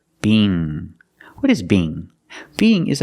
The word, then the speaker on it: Bing: The long E, B, together, Bing.